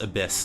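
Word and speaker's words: ABIS: a choice what's abyss I think it's pronounced abyss like you know Oh nestled good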